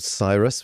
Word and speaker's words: Psirus: We were called Psirus with a silent P.